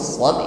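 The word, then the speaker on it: ص: Namun di sini huruf shad ini adalah huruf-huruf isti'la yang ketika mengucapkannya selalu tebal bunyinya.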